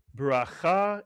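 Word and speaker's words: בְּרָכָה: Can you read the first syllable of this word? It's a word you know. Bira is correct. Mitsuyan, bira. And the second syllable? Cha, mitsuyan. Put the word together. Bracha is correct.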